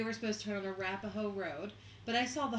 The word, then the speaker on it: Arapaho: It's pronounced Arapaho.